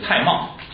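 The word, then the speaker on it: 蔡瑁: 说这个呢就按现在的读音念的，就是蔡瑁。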